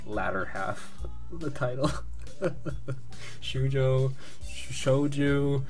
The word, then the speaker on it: Shoujo: Shoujo. It's not Shouju because it's an O, so it's Shoujo, I guess.